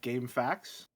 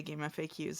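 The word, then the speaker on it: GameFAQs: I've always pronounced this like as if like game facts instead of acronym.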